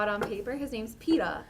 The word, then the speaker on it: Peeta: I didn't know that his name was Peta. I thought his name was Peter. And they were pronouncing it in an English accent until I like saw it on paper.